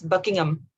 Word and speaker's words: Buckingham: It's same with the name of a place like Buckingham Palace. It's Buckingham. Oh, Buckingham. But not on Buckingham, but Buckingham. Exactly. That's most English words that ends with HAM or AM, you say Buckingham.